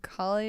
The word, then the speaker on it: Cauley: is colie and colie is the a u l e y pronounced colie and and then my